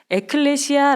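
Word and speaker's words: ἐκκλησία: 라라는 언어를 기록되어 있는데요 헬라어로 우리 교회는 교회 라고 발음하지 않아요 에클레시아 라고 바람을 합니다 그 에클레시아 라는 단어의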